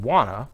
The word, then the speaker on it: wanna: said no you're right when we use the blended pronunciation wanna for want to we make the word to very short and weak there is no t